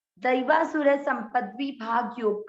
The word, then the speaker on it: द्वौ: आधा द, व पर औ की मात्रा, तो इसको क्या बोलेंगे? वौ, द्वौ, द्वौ, भूत, भूत, स पूरा, र आधा, सर।